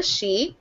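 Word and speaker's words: Sidhe: Archer, co-author and creator of the urban fantasy series, The She, which is spelled S-I-D-H-E.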